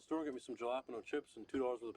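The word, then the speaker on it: jalapeño: the you guys talking about jalapeno that's how you pronounce it I know how to pronounce it I ordered jalapeno I ordered jalopano Randall what was that I I know I've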